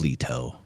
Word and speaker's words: Leto: It's Leto, but I like to say Leo.